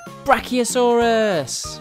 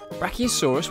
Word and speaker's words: brachiosaurus: wonderful stegosaurus bye stegosaurus let's learn all about brachiosaurus how do you say that again bra